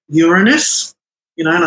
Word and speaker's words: Uranus: uranus you know and i make them all repeat it i'm saying it's uranus probably well before i started apparently they used to make the public put money in this uranus jar whoever said it wrong had to put a